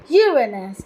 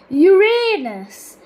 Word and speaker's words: Uranus: of the name Uranus preferred among astronomers is Uranus with stress on the first syllable acin Latin Uranus in contrast to Uranus with stress on the